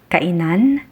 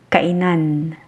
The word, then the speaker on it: kainan: The first one is pronounced as kainan. Kainan meaning eatery, diner or restaurant. Kainan. To avoid getting confused, just remember that diner is pronounced faster than the other.